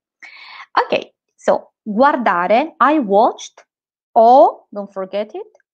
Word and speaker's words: guardare: Everyone will understand you, and in Italy, not everyone knows how to pronounce, how to roll the R. Okay, so don't worry about that. It's really not important. But you have to make a sound for it. You cannot just leave it out. Just make a sound, whatever it is, which sounds a bit like an R.